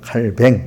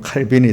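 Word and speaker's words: Calvin: 칼뱅, 그죠? 칼뱅이나 칼빈이 같은 사람입니다. 근데 그 프랑스어로 읽으면 칼뱅이 되는가 보고 미국 영어로 읽으면 칼빈이 되는가 봐요.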